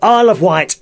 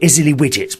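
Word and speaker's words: Isle of Wight: watch the show um I of white is spelled Isle e of o f and white wi G HT and some people call it Izzy widget because of the way it's spelled you see probably in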